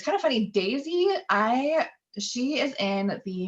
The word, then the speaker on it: Deise: she likes to say daisy pronounced like the flower um so we've got